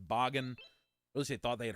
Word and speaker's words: Bagan: I streamed this I used to call it bacon but someone said that I this almost correct me saying that this should be pronounced boggin I really thought they had heard it pronounced as Bagan which makes a lot of sense when you